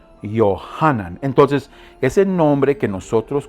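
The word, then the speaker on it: יוחנן: Ahora, el nombre Juan es un nombre hebraico. Se pronuncia Yohanan. Yohanan.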